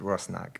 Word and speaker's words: Rusnák: correctly is it pronounced i mean it's rusnak russ knight okay thank you and